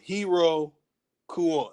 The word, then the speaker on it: Iroquois: so slide it in that the pronunciation is not o y it's o-a uh hiro kua so now hiro kua